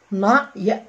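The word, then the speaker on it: knight: زي ما قلنا حرف الكي مع الان دايما الكي بتبقى سايلنت، زي نو نو، نيو ني، نايت. بص كل الكلمة دي طبعا الاي جي اتش بتنطق اي والكي ان هتنطق ان، يبقى فيها 3 ساوند بس، نايت نايت نايت.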